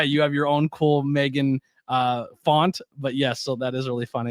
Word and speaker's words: M3GAN: it again but uh Meg which is with the three uh pronounced Megan is a 2022 American